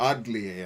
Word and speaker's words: Atelier: I forgot about the Atelier games. Or Atelier, I think you pronounce it with a D, not a T. Because it's French, right?